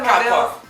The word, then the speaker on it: Capua: Ela, Fernanda de Capuá, tá certa a pronúncia? Capuá.